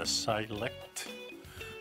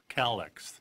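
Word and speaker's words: Calyxt: So we're talking about this company, and the company's name is Select, or Calyx, C-A-L-Y-X-T. Makes it kind of hard to pronounce for me.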